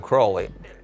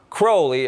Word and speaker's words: Crowley: Some people pronounce his name Crowley and some Crawley. In his own writings, he said it's pronounced Crowley, it rhymes with holy.